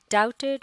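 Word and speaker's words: doubted: मिर्चूज brothers however डाउटेड what he said. ये लफ्ज़ है डाउटेड, इसमें लेटर बी जो है ये साइलेंट होता है और इससे मुराद है शक करना या किसी की बात का यकीन न करना।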